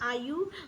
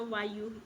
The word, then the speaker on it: वायु: ध्यान में रखिएगा कि ग्रसनी में आयु, सॉरी थोड़ा मिस्टेक हो गया, वायु, हम आई am really sorry for that, थोड़ा सा प्रोनाउंसिएशन मिस्टेक हो गया, वायु, ठीक है, हम इसको आयु बोल दिए थे, उसके लिए आई am sorry for that.